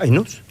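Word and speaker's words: Aïnouz: Cats, a vida invisible de Karim, ¿cómo se pronuncia? Ainus.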